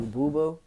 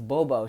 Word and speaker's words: Bobo: me to call you Boo Boo? And started busting out laughing. I started laughing because I'm like, you know that. She was like, did I say it wrong? I was like, yo, it's Bobo.